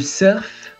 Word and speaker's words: surf: Le surf. Então a pronúncia aqui, ela não é com o U do francês, tá? Surf, vem do inglês mesmo.